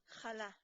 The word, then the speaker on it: challah: today we'll be making challah bread adapted from Jeffrey Hamilton's book or more correctly pronounced challah in Hebrew if you'll notice right